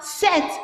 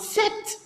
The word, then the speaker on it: sept: Remember, set, not sept.